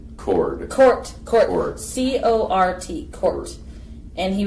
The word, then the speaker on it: Cort: Because he gets cord a lot, probably. He gets cord and he gets C-O-U-R-T or K-O-R-T.